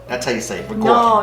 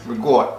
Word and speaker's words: ricotta: Ricotta. Oh, look at the camera. No, it's good. Regort. That's how you say it. Regort. No, that's how you say it from New York. Regort.